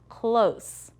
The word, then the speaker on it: close: Good job, it was the long O, that means there's a silent e at the end.